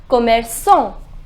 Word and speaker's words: commerçant: Shopkeeper is commerçant. The pronunciation is commerçant.